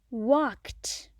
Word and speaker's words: walked: wawk is one syllable walk walked walked walked is still one syllable walked on Wednesday I